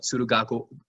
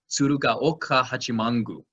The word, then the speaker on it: Tsurugaoka Hachimangu: see at Daigoji, you can see it at Tsurugako, I always have trouble pronouncing this one, Tsurugaoka Hachimangu.